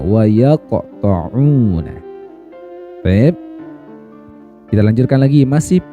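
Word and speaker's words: يَقْطَعُونَ: Huruf qaf ini ketika sukun maka ya matinya kan asli nih emang karena sukun, sehingga dia termasuk qalqalah surah. Harus dipantulkan cara membacanya. Wa yaqta'una.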